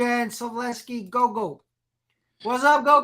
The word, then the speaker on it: Slaveski: you kind of mistake man you kind of mispronounced my name but uh it's okay correct me go ahead slavesky yes sir uh so I got the